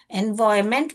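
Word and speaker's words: environment: free and pollution free एनवायरमेंट बोलना चाहिए एनवायरनमेंट आपको स्पेलिंग याद रखने के लिए आप एनवी रॉन रॉनमेंट ऐसे करके याद रखिए मगर एनवायरमेंट बोलते हैं इसका करेक्ट प्रोनाउंसिएशन बेटा तो आपको याद रखने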